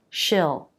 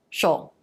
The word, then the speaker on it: she'll: usually Hill or whole she will becomes she'll but again we usually change that vowel to the I as in sit vowel shill she'll try or the schwa shul try Shield but usually shill or it will it'll